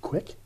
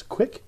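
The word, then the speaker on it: kveik: Apparently it rhymes with quake. Quake? I don't know. My Norwegian grandmother is probably rolling over in her grave. But I think I read that it's pronounced quick. I have no idea. I think that's what I remember it being pronounced as, quick.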